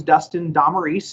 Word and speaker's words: Dustin Damaris: My name's Dustin Damaris. That's the way you pronounce it. It is very phonetic there.